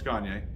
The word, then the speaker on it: Gagne: No, it's Gagne. Oh, Gagne. Okay. That's why I asked. All right. Cool. If you can't pronounce it that way, think of Kanye by Gagne.